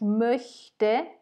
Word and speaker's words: möchte: Attention à la prononciation. Ich mochte, ça a la valeur de R hein, en phonétique, si on veut. Et là, ich möchte, ça a la valeur vraiment de CH.